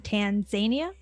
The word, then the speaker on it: Tanzania: And is it it's Tanzania? I am questioning the way I'm pronouncing everything. Tanzania. Everyone, there you go.